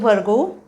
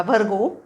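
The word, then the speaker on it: Virgo: लिओ त्याच्या पुढचं कन्या इंग्लिश मध्ये म्हणायचं वर्गो उच्चार पण बघा भरगो भरगो आणि तारखा ऑगस्ट 24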